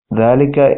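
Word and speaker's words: ذلك: First of all, dhalika is pronounced dhalika, but it is written without the alif.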